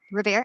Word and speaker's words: Revere: thank you yeah and it is pronounced Revere she's right Revere okay yes so that